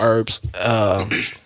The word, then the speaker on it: herbs: You see, got the H. I don't think you pronounced the H with it last time, dog. Yeah. Hey, silent.